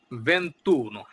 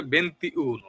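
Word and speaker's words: ventuno: আপনারা বললে বুঝতে পারবেন এরর কমুনিনেল কন্তেজ ইতালিয়ান বেন্তুন 21 কিন্তু এই বেন্তুন এই সংখ্যাটি বেশিরভাগ মানুষই পড়ে বেন্তিউন তেরেন্তাউন করান্তা উন কিন্তু আসলে এটি একটি ভুল যদি এভাবে আপনারা লিখতে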